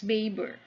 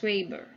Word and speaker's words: Weber: to karl marx was max baber or others pronounced it as max weber or others max weber he was a german sociologist born 9 1864 and died 1920.